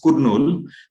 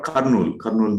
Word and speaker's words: Kurnool: Some of you in North India, you pronounce it as Kurnool, but it is called Kurnool Medical College.